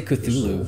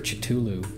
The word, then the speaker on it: Cthulhu: Chitulu! Have you ever heard it pronounced Chitulu? Is that how you're supposed to say it? I say Cthulhu.